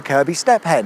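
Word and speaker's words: Kirkby Stephen: context of place names around here is actually pronounced Kirby. Fair enough, thanks for the information, and with that in mind, welcome to Kirby Stephen, a slightly larger village of around 2,000 people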